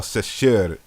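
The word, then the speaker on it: Seshat: name the goddess's name is sashet or sasher if we want to U properly pronounce it or something you know close to sarit uh because remember as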